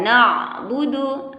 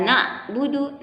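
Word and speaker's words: نَعْبُدُ: Iyyaka na'budu, ainnya juga ya. Perhatikan ada sifat tawassut di situ, harus nggak boleh iyyaka na'budu, nggak boleh, harus ya. Ada sifat tawassut, kita kasih sedikit aliran suara sedikit aja, ya.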